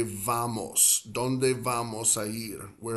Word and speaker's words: vamos: involved, like let's say vamos, ¿dónde vamos a ir? Where are we going to go? Some Spanish speakers will pronounce it almost like a B, like a B.